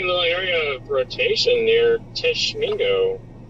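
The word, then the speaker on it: Tishomingo: I guess we do have a tiny little area of rotation near Tishmingo. That is uh Tishamingo. Otisha Mingo. Gotcha. That's how you pronounce it.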